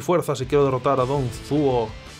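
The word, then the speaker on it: Dong Zhuo: Tengo que aumentar mi fuerza si quiero derrotar a Don Zuo y hacer... o Don Zhua, que lo pronuncian de otra forma, como ya digo.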